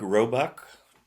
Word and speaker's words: Roebuck: So, if you wouldn’t mind starting us off by pronouncing your name for the viewers. Roebuck: Roebuck.